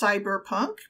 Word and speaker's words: cbr+pnk: it's a cyberpunk game it is pronounced cyberpunk but it's actually spelled